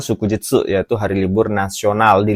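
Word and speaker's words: 祝日: Ya, nomor 3 ini bacanya shukujitsu, yaitu hari libur nasional di luar hari Sabtu dan Minggu, minasang ya.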